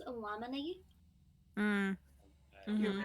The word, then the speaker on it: Illuminati: Actually, it's pronounced Illuminati.